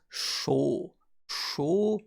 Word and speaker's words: 小: be big and the on reading is also used on its own to represent small easily remembered because show show we can memorize it as short short or small this is a slight